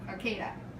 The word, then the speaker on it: Arcata: Raquel's correcting my mispronunciation as per usual. Arcata.